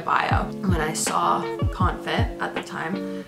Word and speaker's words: Confit: It's pronounced Confit, you freaking idiot.